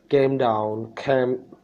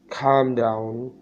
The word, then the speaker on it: calm down: ये मुझसे पहले कभी प्रोनाउंस नहीं होता था, मैं इसको प्रोनाउंस करता था came down, clam down, इस तरह पढ़ता था. तो इसका सही प्रोनाउंसिएशन calm down है.